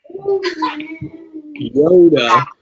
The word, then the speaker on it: iota: Yeah, so Yoda is the modern pronunciation. The Erasmian pronunciation is closer to E-O-Ta.